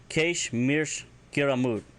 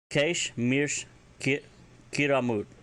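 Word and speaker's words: Kaysh mirsh kyramud: you want to say he's boring me senseless, Keish mirsh kiramut. Keish mirsh kiramut. And it's pretty self-explanatory. He's boring me senseless. And that is spelled Kaysh space mirsh space kyramud. And that is pronounced Keish mirsh kerimut.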